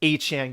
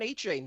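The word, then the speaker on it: Achane: Dolphins media Personnel that he would like it to be pronounced a Chan going forward like no he probably said it's pronounced a Chan stop calling me by the wrong last name he was a star in college and he was Devon a chain the whole time it's like a Zach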